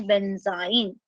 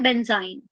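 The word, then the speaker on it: benzyne: तो उसको हम क्या प्रोनाउंस करते हैं, that is considered as बेंजाइन। उसको क्या बोला जाता है, बेंजाइन। क्लियर।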